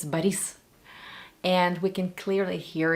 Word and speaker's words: Boris: The only thing that sounds a bit off to me is the emphasis in words because the name Boris, for example, in Russian, in Russia, it's never Boris, it's Baris.